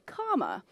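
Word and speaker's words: cama: that c m a Oh I thought you said comma you like you know comma it sounds like yeah like the punctuation so we have four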